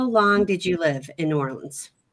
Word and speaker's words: New Orleans: You are our expert for New Orleans because I've been there once, but am I saying it right? New Orleans? New Orleans. Basically, it's just one word.